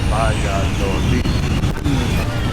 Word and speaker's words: Valladolid: One of my favorite things to do is ask a local how to pronounce the name of their city, especially when this is the spelling. Valladolid. Muchas gracias. Sí. Valladolid.